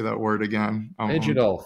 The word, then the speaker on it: Phygital: easier than I thing I keep seeing the G in the middle and I'm like scared of it so I'm not saying I'll get it down we can go with a silent G yeah yeah I love